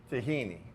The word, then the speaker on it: tahini: there's this sauce yes which is tahini tahini like bikini but not but and and I'm